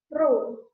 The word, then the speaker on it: rho: Ini bacanya adalah rho.